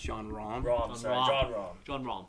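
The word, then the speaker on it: Jon Rahm: John Ram. John Ram. John Ram. It's actually pronounced John Rahm.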